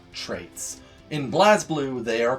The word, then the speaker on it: BlazBlue: games like injustice and blazblue for this and yes i understand that it's pronounced blaze blue but come on look